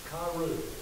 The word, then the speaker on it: Kyriou: It's the Greek is spelled with K-U-P-I-O-U. Kyriou, K-Y-R-I-O-U, of the Lord.